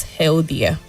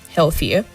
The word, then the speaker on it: healthier: The last syllable has a weak sound as well. And then healthier, not healthier, healthier.